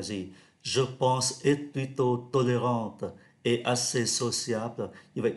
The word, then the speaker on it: tolérante: vì chúng ta thấy tính từ tolérant thì có ơ phía đằng sau, chúng ta phát âm là tolérante.